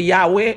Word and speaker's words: Yahweh: So, il pas dit Yahweh même j'avais non, il dit Yahweh avec 3 syllabes yo même.